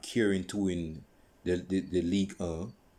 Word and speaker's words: Ligue 1: Because when PSG made those signings, they were not caring to win the Ligue 1. That's how it's pronounced in French, Ligue 1.